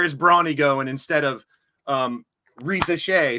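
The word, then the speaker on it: Risacher: It's turning into where is Bronny going instead of Reza Shea, who is that's how you pronounce Zachary's name.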